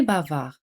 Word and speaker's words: bavard: Hablador en francés se dice bavard. Bavard, de al final no se pronuncia.